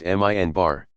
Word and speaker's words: minbar: few steps of a pulpit called the minbar, pronounced minbar.